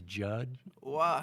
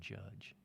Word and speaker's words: Judge: Judge his name is Judd not Joe uh wait is it is it Judd or judge no it is Judge yes oh interesting rhymes with fudge judge yeah it is